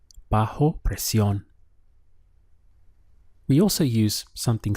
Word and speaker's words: bajo: under in Spanish is bajo bajo notice the strong H sound here bajo and the word